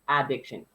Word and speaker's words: addiction: yeah now i would i would strongly pronounce that ah at the start of it addiction okay and a strong